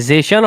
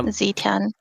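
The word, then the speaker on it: Zetian: I I think that's how she's pronounced, right? Zan or Zetan. Mhm. Yeah. Zetan.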